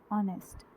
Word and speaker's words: honest: बट अगर मैं इस वर्ड को प्रोनाउंस करूँ ऑनेस्ट, तो एच जो है वो साइलेंट होता है।